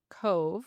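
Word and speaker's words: Cobh: Leaving from Liverpool, England, and stopping in Cove, which was then known as Queenstown, Ireland. Oh. Um, fun fact, Cove is spelled C O B H because the Irish have Gaelic, which means V, which is actually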